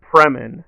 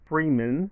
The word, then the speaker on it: Fremen: It should be Fremen, not Freeman. It's not Morgan Freeman, so that was a little weird.